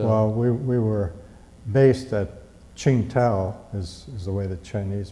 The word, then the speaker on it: Qingdao: Well, we were based at Qingdao, is the way the Chinese pronounce it. Yeah. Qingdao.